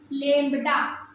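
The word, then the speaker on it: lambda: इसे लैम्ब्डा पर उसकी इंग्लिश में स्पेलिंग होती है लैम्ड तो इसमें बी जो है आपका साइलेंट होता है लैम्ड इसे कहते हैं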